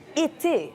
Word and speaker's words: été: When it comes to the accent aigu, it's pronounced é, like été, summer.